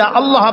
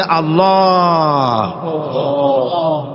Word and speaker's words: আল্লাহ: আল্লাহ পাকের উচ্চারণটা হচ্ছে আল্লাহ পাকের নাম হচ্ছে আল্লাহ মুখটা একটু গোল হয়ে যাবে বলেন আল্লাহ আল্লাহ সুবহান